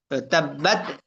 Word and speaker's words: تبت: তাব্বাত, এখানের মধ্যে তাব্বাতে অনেকে এখানে কলকলা করে ফেলবে, তো এটা খেয়াল রাখা।